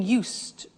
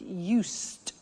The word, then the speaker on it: used: So, I'm getting used to speaking Italian every day. Listen to the pronunciation. I said used with a T sound.